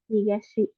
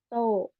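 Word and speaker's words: 東: Higashi. Higashi untuk cara bacanya ada dua, higashi dan to.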